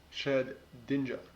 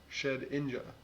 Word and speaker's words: Shedinja: Okay, so according to this, it is in fact Shed Dinja. Shed Inja. Shed Inja. Or we could call it Nukinin. It's Japanese name. So there is no first N from ninja.